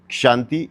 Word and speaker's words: Kshanti: And if you have seen the way I pronounce Kshanti is with a K, and that is endurance.